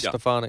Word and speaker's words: Stefanik: Is that the way you pronounce her name? Elise Stefanik.